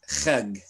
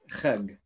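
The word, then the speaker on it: חג: It would be written as Hajj, but the modern day Jew would pronounce this as Chag. Chag.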